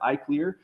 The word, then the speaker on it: ICLR: over here is uh the cool kids pronounce it I CLE I can tell if somebody is a machine learning person or Not by the way they pronounce This Acronym if they say iclr I know they're not in the community if they say I